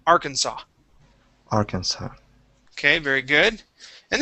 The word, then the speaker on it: Arkansas: that uh s okay you didn't pronounce the s at the end but the that uh first s okay you'd said za so arkansas it is arkhan saw arkansas arkansas okay very good